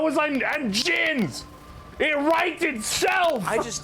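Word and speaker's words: jinn: More Isn't it pronounced specifically. Jin?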